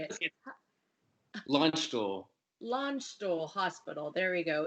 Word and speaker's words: Landstuhl: Landstuhl.